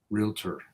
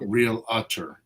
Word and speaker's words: realtor: I say that Realtor it's not really it's not real utter realtor r-e-a r-e-a-l real repeat after me real tour two syllables not realator that's one too many lastly before I get